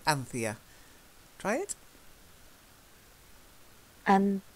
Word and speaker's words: Anthea: the first one is Anthea Anthea is a name it's not actually a very common name anymore but that's how we pronounce it in the UK Anthea try it and Anthea Anthea so this is